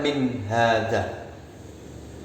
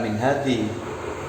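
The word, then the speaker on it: من هذا: Meskipun ada huruf jermin, kemudian ada hadza, tetap membacanya min hadza, bukan min hadhi. Ini malah salah kalau min hadhi, tapi min hadza.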